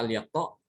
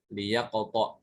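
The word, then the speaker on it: ليقطع: Apa al-yaqta? Tidak mungkin ya. Bacanya adalah liyaqta, jadi kasrohkan. Huruf sukunnya itu diganti dengan kasroh menjadi liyaqta.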